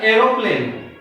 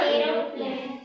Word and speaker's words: aeroplane: और जब भी ए के बाद ई आता है तो ए अक्षर साइलेंट होता है, इसलिए इसको बोला जाता है एरोप्लेन। क्या बोला जाता है? एरोप्लेन।